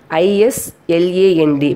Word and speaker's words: island: First one is, S is not pronounced before L and after I in some words. For example, island, I-S-L-A-N-D by pronunciation, but we are pronouncing as a island.